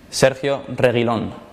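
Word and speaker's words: Sergio Reguilón: and cameron's first hi fans this is how pronounced my name sergio reylon cause we always give it one last try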